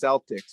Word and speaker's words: Celtics: me and they said it's pronounced celtics with an s um but i'm calling